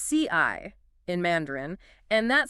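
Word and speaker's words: 四: why four it's pronounced CI in Mandarin and that sounds almost exactly like the word for death oh okay yeah so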